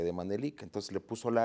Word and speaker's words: Manelik: dicen Manelich, otros Manelik, ¿qué? ¿Cómo se pronuncia? El nombre es de una poesía de Antonio Mediz Bolio y es Manelik.